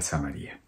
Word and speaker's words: Samaria: Unos pronuncian Samaria, pero aquí en mi Biblia está acentuado y indistintamente se puede pronunciar Samaria o Samaria. Entonces, como estoy leyendo mi Biblia y tiene el acento en la I, pues voy a pronunciar Samaria.